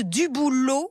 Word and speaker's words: Dubouloz: Avec nous, notre chef cuisinier jusqu'à 10h30, Claude Dubouloz, on ne prononce pas le Z, chef cuisinier de l'Auberge d'Antilles.